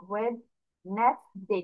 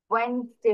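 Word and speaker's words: Wednesday: তারপর ভাঙলাম আরেকটা, নেস, এন ই এস, না, নর্সে এ আস, তাহলে ওয়েড নেস ডে, ডি এ ওয়াই ডে, এরকম হওয়ার কথা ছিল, বাট তা না হয়ে কি হয়ে গিয়েছে, ওয়েনসডে হয়ে গিয়েছে।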